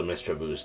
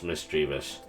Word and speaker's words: Misdreavus: So, I'd also like to try to see if I could build a Mistravu's deck. Or it's Misdreavus. I think that's how it's pronounced. It's Misdreavus.